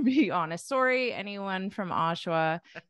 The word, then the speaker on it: Oshawa: little too easy but I thought for syllable stress you might put it on the end or something but and say like Oshawa or Oshawa or like something like that but you got it Oshawa Oshawa not too bad right it's